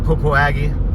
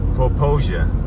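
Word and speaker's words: Popo Agie: I was taught to pronounce it Popoaggie, or I can't pronounce it. Forrest Friend would always call it Popoaggie, and you know, our good friend Toby Eunice corrected us. Poposia, I think that's how you pronounce it.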